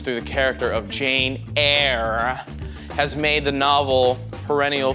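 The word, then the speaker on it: Eyre: captivating romantic novel Jane Eerie is that a Jane Austin B Emily Bronte C Charlotte Bronte or D Charles Dickens I pronounce that right Jane air Jane air my bad all right the brilliant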